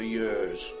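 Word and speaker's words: Hyères: On the 3rd of January, we set off for Yers, which incidentally is spelt Hyres.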